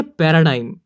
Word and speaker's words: paradigm: 30 है पैराडाइम। नाम सुनते ही ऐसा लगता है DIM ही आएगा, लेकिन इसकी सही स्पेलिंग है PARADIGM।